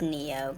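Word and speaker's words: Nioh: It's pronounced Neo, but in English the word Neo is N-E-O rather than N-I-O-H.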